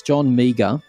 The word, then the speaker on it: Meagher: It's John Meagher. It's best pronounced that way, I guarantee you. It's at John... How best pronounced that way? Yeah, it really is. John Meagher. He's a meager man.